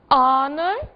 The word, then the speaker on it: honor: ser observadas porque justamente são casos em que o H está ali, mas não é dito. Que palavras são essas? Our, honor e honest. Não disse o H em nenhuma delas.